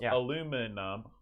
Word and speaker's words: aluminum: as they can possibly be aluminium that's five syllables aluminum or in west virginia aluminum that's three okay